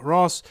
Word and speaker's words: Hross: special guest is Ross is it pronounced Ross or or Ross what it yeah well you don't pronounce the h actually is an old Nordic